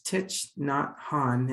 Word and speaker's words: Thich Nhat Hanh: His name is Thich Nhat Hanh, and Thich is spelled Thich, Thich.